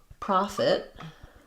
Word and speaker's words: prophet: So prophet same as this profit.